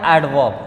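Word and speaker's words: adverb: यहाँ देखिए ए और जे के बीच में नहीं, यहाँ ए और भी के बीच में डी है। तो यहाँ जो है साइलेंट नहीं रहेगा, साउंडेड रहेगा, ठीक है।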